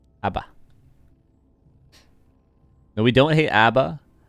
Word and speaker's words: ABBA: hate Abba good good pronounced it ABA yeah we say Aba here in Canada we say Aba Abba no we don't hate